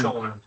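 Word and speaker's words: Chorn: Wait, is that how you pronounce it? That's right. Yeah. Shorn.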